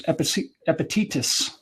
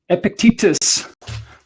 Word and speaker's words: Epictetus: teach uh stoicism was epithetus i knew i was gonna pronounce this incorrectly epictetus fortunately a professor from creighton university where i got my law degrees in the philosophy department there and he is helping us pronounce it correctly um but stoicism goes